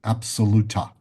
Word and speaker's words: Absoluta: And the term space potency has a name, and the name for it is absoluta. Absoluta. How do you This is spell that? as the word absolute, ABSOL, absoluta.